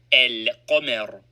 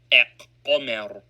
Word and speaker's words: القمر: with one of them, the lam of alif lam is pronounced and carries sukoon, e.g., al-qamar, and not aq-qamar.